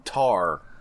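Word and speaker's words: tahr: It's like I have to Google this And And it's like a Himalayan tar. I think that's how it's pronounced. T A HR.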